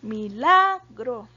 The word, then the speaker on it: milagro: verdad la palabra milagro milagro tiene el acento en la sílaba la entonces es la penúltima verdad la penúltima sílaba